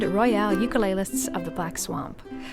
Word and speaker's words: Royale: the Black Swamp and it's very important that there's an e a silent E on Grand and a silent E on Royale and a heavy metal a heavy metal o on the o of UK list that's Sher and Jason